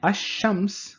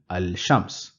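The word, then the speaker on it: الشمس: example is Al which means the moon and Asam which means the sun in Al I am pronouncing the lamb I saying Al that means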